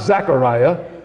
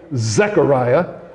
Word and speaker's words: Zechariah: parents, Mary and Zechariah, Z-E-C-H-A-R, not Zachariah, Zechariah, okay, with an E.